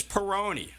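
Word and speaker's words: Peyronie: that I think it's Peroni I'm GNA guess sounds like macaroni all right it's kind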